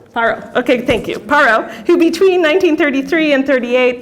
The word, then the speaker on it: Parrot: have um a frenchman andre i'll say his name wrong too my french is even worth paro i'll just say paro how do i say paro okay thank you parrot who between 1933 and 38 presided over the